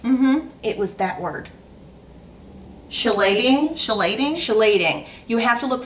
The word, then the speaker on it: chelating: Remember that word I asked you to pronounce? Mm-hmm. It was that word. Chelating?